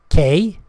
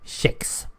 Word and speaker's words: kex: Now, it's spelled K-E-X. That's it. Kex. Or Czech. Depending on which side you are on. If you are on the Stockholmian side, you say Kex.